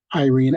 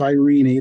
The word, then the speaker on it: Irene: official story of course Irene Adler and I insist on using the American uh pronunciation instead of Irene that always ring Force to my ear she was an American